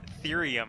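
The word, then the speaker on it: thirium: It's pronounced therium, Ed.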